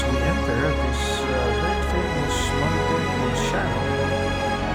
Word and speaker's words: Montepulciano: Another place here in Tuscany, Italy, is Montepulciano, and that's called Baron. My 19-year-old son driving his favorite vehicle, the Audi Q8. So visiting Montepulciano. How do you pronounce it again? Montepulciano.